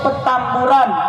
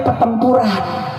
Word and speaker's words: Petamburan: di Petamburan DKI Jakarta saya sebut Petamburan bukan petempuran di mana petambu Kenapa perlu digaris bawahi Soalnya ada yang baca Petamburan bacanya ptempuran datang ke Petamburan bawa panser